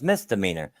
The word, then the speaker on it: misdemeanor: You know, I mean, the first time she pronounced it wrong was she would say Mr. Meaner. You know, it's like, no, it's misdemeanor.